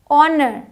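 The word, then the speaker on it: honour: साई यहां आते हैं एच साइलेंट है ऑनर ऑनर ऑनर पढ़ते हैं साइलेंट है और ऑनर की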